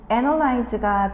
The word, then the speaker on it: analyze: 자, 첫 번째가 analysis였고 그리고 다음이 analtic인데 analyze가 동사로 쓸 때에는 a이 발음 자체가 요렇게에 발음이 나도록 analyze 요렇게 발음을